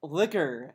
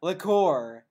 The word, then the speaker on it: liquor: then I'll be gentle so liquor is pronounced liquor not liqueur are you [ __